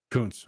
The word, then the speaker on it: Kuntz: By the way, is it Kuntz or Kuntz? I don't want to pronounce his name wrong. Kuntz. Okay, that makes more sense.